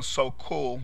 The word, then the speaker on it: Sokule: interest, and so people searching for you on Sokule, which is how it's pronounced, they know your interest, and therefore, when